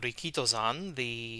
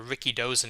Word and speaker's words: Rikidozan: He started wrestling 62 years ago, as of 2022, as a disciple of Rikito-san, or Rikidozan if you want to mispronounce it, and who is pretty much the founder of professional wrestling in Japan.